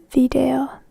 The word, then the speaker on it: video: In English it's a bit like video. In Finnish it's video.